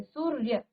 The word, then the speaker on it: सूर्य: सूर्य, क्योंकि इसमें स्वर नहीं है, तो पूरा आप र नहीं बोलेंगे, सूरर या नहीं कहेंगे, लेकिन यहाँ पर आप र का उच्चारण आधा स्वर की तरह करेंगे। सूर्य, क्या कहेंगे?